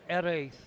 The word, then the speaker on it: Jerez: Alberto Jerez, I'm told it is pronounced, by Spanish-speaking Scottish friend.